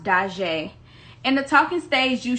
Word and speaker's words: Daujee: you pronounce your name my name is pronounced da jae in the talking stage